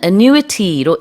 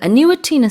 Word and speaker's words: annuity: 아니면은 annuity로 1년에 얼마만큼씩 조금씩 받을 수 있는데 그게 매해 조금씩 늘어난대요. Yeah. 액수가. 그 annuity는 스펠링이 어떻게 되나요?